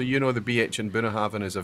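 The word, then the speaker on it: Bunnahabhain: So you know the BH in Bunahaven is a V. So Bunahaven. Perfect. The correct pronunciation would Okay.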